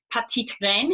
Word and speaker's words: petitgrain: Petitgrain, if you want to say it properly, for the French.